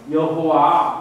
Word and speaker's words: 여호와: 이르기를 너희 조상의 하나님 여호와 이렇게 표현했어요. 여호와 우리 개혁의 성경에서 여호와 이 단어죠. 여호와 이거는 고유명사죠. 고유명사 여호와라고 표현된 이게 여기가 고유명사입니다. 원래 전통에 따르면 우리는 하나님 아도나이라고 부릅니다. 여호와라고 읽지 않습니다.